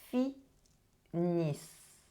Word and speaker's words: finissent: And for the last one, same as with the verb of the first group, the ending ENT is not pronounced.